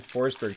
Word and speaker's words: Forsberg: Technically, I believe you pronounce Stenberg's name, and Forsberg too. Like, it's pronounced like Berg is Bera in Swedish.